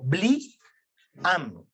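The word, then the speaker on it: בלעם: Para comprender un poquito más, Bilán se escribe Bet, Lamet, Ajim y Met, en donde podemos observar o podemos entender su nombre como Bli-am.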